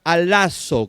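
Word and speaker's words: ἀλλάσσω: Usa la palabra griega alazo, con doble S y acento en la segunda A.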